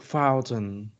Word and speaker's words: fountain: yes te but how about a work Fountain okay fountain or Mountain Fountain also Mountain too oh that is different that is totally different because let me say something sometimes we don't pronounce t you know it's like totally different let me say something about uh some words like for example Mountain te is like uh really soft okay about F Fountain okay